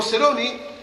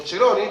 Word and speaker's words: Ceroni: Al lado izquierdo de él, el primer vicepresidente, Guillermo Ceroni, o Ceroni, pero se escribe con C, Ceroni.